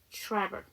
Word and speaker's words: travel: 그런데 이게 TR 사운드죠. R 해서 travel 해주셔야 돼요.